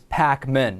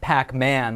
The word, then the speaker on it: Pakman: The right pronunciation of my last name is Pakman, not Pac-Man like the video game.